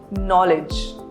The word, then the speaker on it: knowledge: Letter K is silent whenever it precedes letter N in a word. For example, knowledge or night.